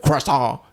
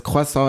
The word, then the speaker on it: croissant: cant and I will pronounce it like Tasha pronounce it cant cuz she's from America and she pronounces it this wayas she's gonna kill me uh oh the real pronunciation is quasa and I've been telling her this since I